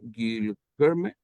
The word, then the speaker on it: Guilherme: Guilherme. Guilherme. Guilherme. Bueno, Guilherme. Es como Guillermo, pero tiene la E.